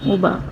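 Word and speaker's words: über: এটার উচ্চারণ কি? ইউংলাউড বি ই আ উবা কি এটা হচ্ছে ঝুলানো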